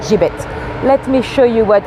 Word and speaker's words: gibbet: of a metal cage not to be pronounced a gibbet some people do but it's definitely a gibit let me show you